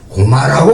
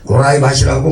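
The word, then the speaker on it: 高麗: 그래서 고려라고 가라라고 발음한 적이 없고 고마라고 발음했습니다.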